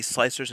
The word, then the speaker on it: Slic3r: is going to be slicers and techniques it's just proof slicer slic3r is tom 3ds pronounces it and kira and